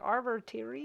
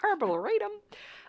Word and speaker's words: arboretum: I'm like, Arbitorium? Oh. Arbitorium? What's happening? Arboretum.